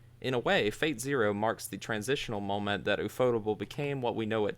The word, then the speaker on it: ufotable: ufotable? I've always called it UFO table this whole time. I was going to make that Oh my joke, but yeah, God. it's definitely ufotable.